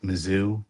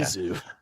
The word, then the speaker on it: Mizzou: Mizzou. Mizzou. how I've always Some said people it. pronounce it differently. It's either Mizzou as in MISS, but it's actually MIZZ.